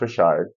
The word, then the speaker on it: Richard: of my favorite water songs baptized by Dawn Rashard spelled like Richard but pronounced rard what's it coming down like like here we